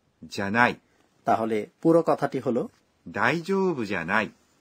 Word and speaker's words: ではない: অমার্জিত বা নৈমিত্তিক কথাবার্তায় অবশ্য এই ではない কথাটিকে উচ্চারণ করা হয় じゃない তাহলে পুরো কথাটি হল 大丈夫じゃない এই ছিল টিচার আমাদের বুঝিয়ে দিন পর্ব।